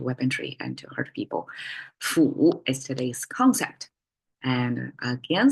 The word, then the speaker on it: 斧: Fu is today's concept. And again, simplified and traditional, they look the same, pronounced as a fu.